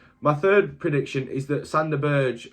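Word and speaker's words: Sander Berge: third prediction is that sand the Burge or Santa Berger is I believe you're meant to pronounce it will remain at Sheffield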